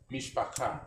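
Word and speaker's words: מִשְׁפָּחָה: Mishpaka.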